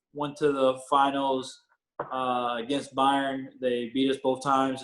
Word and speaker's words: Bayern: Did I pronounce that correctly? Bayern, okay.